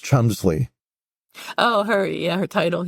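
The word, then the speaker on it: Cholmondeley: hambury yes yes and her last name which is spelled in a quite complicated way is pronounced Chumley oh her yeah her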